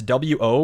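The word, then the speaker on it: を: So a lot of the times, so it's wo wo. A lot of the times they will just drop the W sound and just O.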